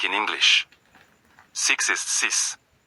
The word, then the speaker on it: six: Six is sis. The X sounds like an S, not KS.